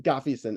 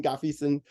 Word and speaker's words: Ngafeeson: pronounce your last name we tell as though the first end is silent so it's like Gaffigan Dr gaffyson and I'm embarrassing myself